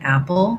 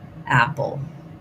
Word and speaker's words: apple: So a syllabic L means that rather than pull with a real vowel there, I'm just kind of going right to the L. If there's any vowel there, it's a little bit of a schwa sound.